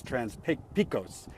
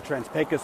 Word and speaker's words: Trans-Pecos: when you read it it looks like it's trans P Picos but it's actually pronounced pus uh the trans pus pipeline is going uh from Texas and it's